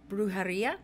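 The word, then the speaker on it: brujería: your guides that you need to start practicing brujaria is that correct i said it right perfect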